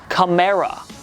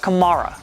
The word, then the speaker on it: Kamara: I want this official Alvin CA says it is Cera yes no need to pry any further into the phonetics or atmology of the name now that we've heard it straight from Alvin's mouth CRA not Kamara while someone had to